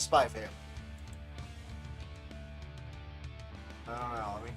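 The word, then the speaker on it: Spy × Family: Should be silent. So it is Spy Family.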